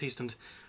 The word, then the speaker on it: Heistand: Team Ortega versus Brady Heistand, that is how it's pronounced, Heistand, from Team Volkanovski.